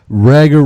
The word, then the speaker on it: Rager: Yeah, it's actually pronounced Rager. Everyone usually says Rager, which, I mean, it does sound cooler, but no, just Rager.